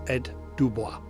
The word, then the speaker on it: Ed Dubois: round vid last time, I absolutely murdered my attempts at trying to pronounce the designer's name. So my apologies for that, and I've been quite rightly corrected. So I'm going to try again. It's Ed Dubois.